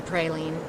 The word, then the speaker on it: praline: get me started on the praline versus praline thing I will never give in it's a praline I know you're going